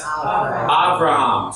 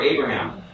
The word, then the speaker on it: Abraham: Abraham, and we would pronounce him in Hebrew as Abraham. So the B would be a V sound.